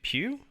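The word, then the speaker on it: Pugh: am super excited florence i'm not going to pronounce her last name correctly pew i would say pew as uh yelena belova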